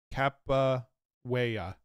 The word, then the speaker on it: Capoeira: Is that how it's pronounced? Capiaora? Capoeira? Capoeira.